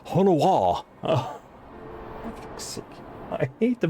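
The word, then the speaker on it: Honoroit: Onroyd, there's Onroyd. Onawa! Onawa, sorry. How could I not know that Honoroid was supposed to be pronounced Honowa?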